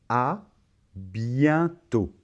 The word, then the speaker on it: à bientôt: Donc, on va prononcer à bientôt. À bientôt. Très bien, tu l'as très bien dit, j'en suis sûr. Et on remarque encore une fois que la lettre T finale ne se prononce pas. Alors ici, la combinaison E et N, ça va se prononcer un, c'est un son nasal.